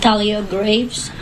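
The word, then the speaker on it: Thalia Graves: we have the correct do you want to pronounce her name Talia Graves okay thank you m GL are you in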